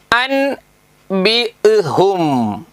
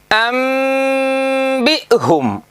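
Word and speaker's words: أنبئهم: എന്താ വായിക്കുക? അൻ ബി ഹും. എന്ത്? അൻ ബി ഹും എന്നാണല്ലോ എഴുതിയിട്ടുള്ളത്, അല്ലേ? എന്നാലേ വായിക്കുന്നത് എങ്ങനെ അറിയോ? അംബിഹും, അംബിഹും.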